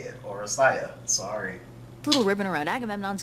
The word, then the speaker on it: Oresteia: That's how you say it, Oresteia.